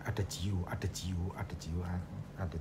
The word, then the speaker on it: adagio: istilah ada Hajo misalnya g-nya itu dibaca c jadi ada adaajio Bukan dibaca adagio tetapi dibaca adajio yang pertama tidak cukup dengan pronouns Yang benar saja tetapi juga aksentuasinya siswa harus us diajarkan misalnya ada Joo itu harus dilafalkan adaajo adaajo tekanannya bukan pada suku kata pertama ataupun terakhir karena di dalam bahasa ital